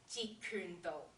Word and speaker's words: Jeet Kune Do: Jeet Kune Do.